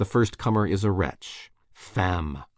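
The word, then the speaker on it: femme: Comer is a wretch fam woman rhymes with infam Infamous yes I have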